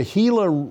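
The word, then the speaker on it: Gila: moderate to extreme drought the hila River Indian Community that's spelled g l a and the US Army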